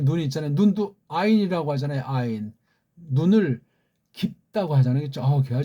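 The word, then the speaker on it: עין: 이 소리 발음을 완전하진 않지만 우리가 글자가 느껴준 걸 우리 배달결의 정음의 최고의 소리 원리를 가지고 이렇게 이런 이응자로 소리를 내시라고요.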